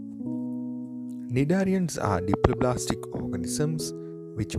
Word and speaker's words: cnidarians: here is a Darwin's when pronouncing the word cnidarians letter C is silent cnidarians are deeply plastic organisms